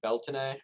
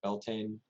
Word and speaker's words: Beltane: Then we have Beltane or Beltane, I've also seen it pronounced.